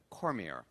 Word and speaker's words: Cormier: Did I pronounce that correctly? Was that Cormier? Hope so. Rhonda, did I get that right? Is it Cormier? I did. Okay, yes. Good. Cormier.